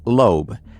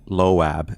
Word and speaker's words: Loab: background, and it says lobe, l on the top left. By the way, as news of this spread, some people started pronouncing it Loab, but some of the original sources say it's actually lo.